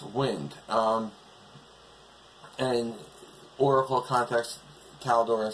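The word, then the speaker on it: Wyynde: It's spelled W-Y-Y-N-D-E, but it's pronounced Wynd.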